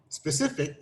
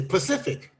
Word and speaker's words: specific: saying it right because sometimes folks instead of saying specific they say pacific except she's although i know it's not pacific so she said specific all right be specific